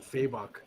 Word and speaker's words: Fabok: How did you pronounce his name now? Fabok? Jason, as far as I know, it's Jason Fabok.